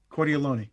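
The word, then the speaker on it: Cordileone: To begin, we saw, I believe, Archbishop, I don't know how to pronounce his surname. It's Cal of San Francisco. Cordialone.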